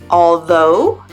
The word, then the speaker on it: although: sense of this the first pronunciation is like oh just like in the word no and this is how we pronounce words like although Thoreau and doe and so also mmm donut hmm here's a